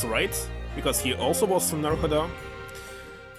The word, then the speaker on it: Naruhodo: I don't know where to put the stress. Obviously, there's no stress in Japanese. But sometimes they have like double O or U or something, so it can be pronounced different.